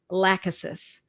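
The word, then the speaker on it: Lachesis: at the the ability of this gorgeous medicine laccis spelled l-a-c-h-e-s-i-s and it's in a 200 potency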